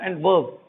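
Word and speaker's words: adverb: जब डी के साथ जे आता है तो क्या होता है, डी साइलेंट होता है, तो इसे क्या बोलते हैं अपन, एडजेक्टिव। यहाँ पर इसे बोलेंगे एडवर्ब, क्योंकि यहाँ पर जे नहीं है, इसलिए यहाँ एड का, डी का प्रोनाउंसिएशन हो रहा है।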